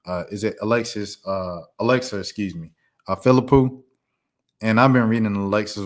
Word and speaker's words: Philippou: How you pronounce Alexa's last name? Is it Alexa? Excuse me, Philippou.